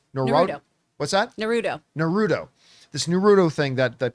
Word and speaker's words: Naruto: wants to do uh like the I always mispronounced it naratu Nar what's that narut Naruto this Naruto thing that that people are excited